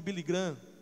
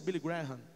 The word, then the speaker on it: Graham: Alguns falam de Billy Graham, mas a pronúncia é Billy Graham.